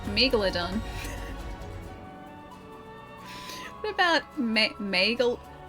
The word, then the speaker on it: Megalodon: That is the correct way to pronounce Megalodon.